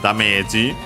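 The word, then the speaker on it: ダメージ: Then we have damage, English. I suspect the accent might be different in this case. Also notice the longer vowel, and yeah, the accent is on the me. So yeah, be careful.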